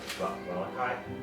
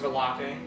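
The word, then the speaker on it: Vallaki: Or are we headed to Valakai? That's close. Yes. But it's pronounced Valaki. Oh, Valaki. They actually phonetically put it in the book. Because I thought that too. But the book says it's Valaki.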